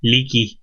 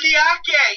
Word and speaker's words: Leaky: Leaky. Leaky. That's funny. Oh, man. I'm telling you, his name was Leaky. And I was like, oh, is it Liake? No, if you look at it, it's spelled Leaky.